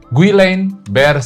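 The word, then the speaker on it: Guillain-Barré: Guiline bear syndrome ya atau tertulisnya ini guilain bare sindrome ya. Ya dibacanya guiline bear syndrome ya.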